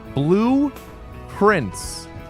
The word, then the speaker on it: Blue Prince: Blue Prince. When pronounced, it sounds like a blueprint, like the plan for a building.